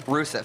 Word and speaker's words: Rusev: And so, I mean, these athletes, this Bulgarian man is probably very strong and good Yusef. at what he does. Yusef. Is that his name? Rusev.